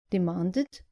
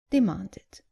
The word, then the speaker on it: demanded: And not demanded, but demanded. Right then, that's all for this lesson.